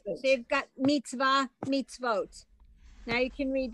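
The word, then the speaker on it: מצוה: That's definitely, no, that one's Mitzvah. definitely silent because I know the word.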